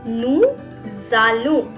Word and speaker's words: nous allons: With nous I write down allons, so it becomes nous allons. Why I'm making a z sound? Because s is followed by a vowel. So you will say it as nous allons.